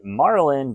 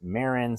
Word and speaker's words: Marin: I know in a couple previous videos I used to say Marlin, but it's pronounced Marin.